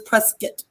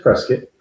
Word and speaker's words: Prescott: an issue nissi says is it prescott like biscuit or prescott and so she came on late so it's press get right i don't think it's as prescit like i guess like biscuit yeah yeah so it's press kit yeah so uh i